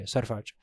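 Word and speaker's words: Sarfraz: So Surfraj, that's how you pronounce it, right? Or is it Sarfraj? Yeah. Surprise. Okay, Sarfraj.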